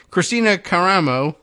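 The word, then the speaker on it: Kristina Karamo: election that's weird anyway Christina caramo is what we're saying is the pronunciation of the name of the person who won this race uh the subheader tells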